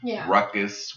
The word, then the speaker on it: Rukus: of a lot of Nigerians have unfortunately butchered the pronunciation of my name ruckus was the original intent but I see a